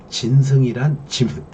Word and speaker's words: 진승: 진승이란 짐승이 아닙니다. 발음을 잘해야 돼요.